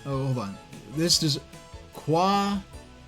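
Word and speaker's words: Kwajalein: This is Quadjaline. That's assuming that J is a hard J and not a soft J. That's pronounced like an H.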